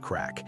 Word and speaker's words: craic: The word is crack, pronounced crack.